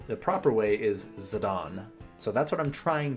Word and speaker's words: Zidane: but the proper name the proper way is zadon so that's what I'm trying to do for this playthrough I'm glad you like muvr Jason Zorn and Thorn these punks skip through their banter they're annoying zadon yeah that's how apparently that's the real pronunciation